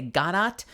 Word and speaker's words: Godot: There are multiple ways that people pronounce the name of the play. A lot of people in America say Godot, waiting for Godot. Some players of Ace Attorney say Godot. Those players are wrong. But my understanding is that Samuel Beckett, the playwright, pronounced it Godot, so I'm saying Godot.